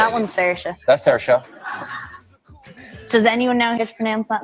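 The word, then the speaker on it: Saoirse: tell me how I'm supposed to say that sersa that's Sara does anyone know here to pronounce that in the audience T TIG TIG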